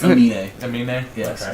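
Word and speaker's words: Aminé: I can just pronounce like anime, but like the Emin switch. Amine? Emine. No, but it's Amine.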